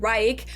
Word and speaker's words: Reich: But since the word includes the tricky ch sound, most English native speakers say third reich, which is fine, too.